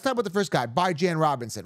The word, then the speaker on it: Bijan: So first and foremost, Bijan Robinson. By the way, that is how you pronounce his name. Bi as in bi-weekly, B-I. Jan as in Rand, J-A-N, Bijan. Anyone pronouncing it Bijan is wrong, okay?